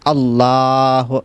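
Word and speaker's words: الله: আবার আল্লাহ শব্দ লামের পূর্বে যদি জবর অথবা পেশ হয় তাহলে ওই লামকে কিন্তু মোটা করে ফুর করে পড়তে হয়। আপনি যদি বলেন আল্লাহ তাহলে পরিপূর্ণ শুদ্ধ হবে না, বলতে হবে আল্লাহ। একটা মুখকে বড় করে মোটা করে ফুর করে পড়তে হবে।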